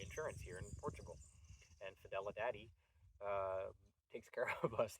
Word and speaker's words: Fidelidade: It's spelt exactly like it sounds, but instead of daddy, it's DADE. Fidelidade.